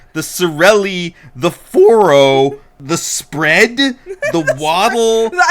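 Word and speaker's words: Spred: It's not even like the word spread. Spread is what it is. Oh, and then this one that's spelled C R O H D apostrophe A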